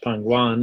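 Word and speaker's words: پنگوئن: Penguin is pronounced pangwan in Iranian or Persian.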